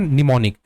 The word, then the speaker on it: mnemonic: अब आता है निमोनिक कोड, स्पेलिंग क्या है, MNEMONIC, लेकिन प्रोनाउंसिएशन क्या है, प्रोनाउंसिएशन निमोनिक।